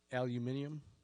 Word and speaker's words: aluminum: Did he talk about aluminium? It's aluminum. Aluminum. Oh, That's how they say aluminum. That's how they say it over Yeah. in fucking the no. other side of the pond.